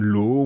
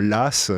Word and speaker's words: Law: Après, c'est comme John Law. On devrait dire Las.